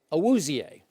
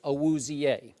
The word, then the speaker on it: Awuzie: at that point, but I think it's Awuzie. Awuzie. And I watched him a lot. Joel Klatt called him Awuzie on the air on Fox Sports 1.